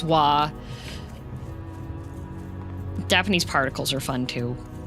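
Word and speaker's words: は: It's pronounced like it's written as ha but it's spoken as wah.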